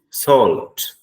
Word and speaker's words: salt: But when you pronounced this word, this is salt. The last T must be audible.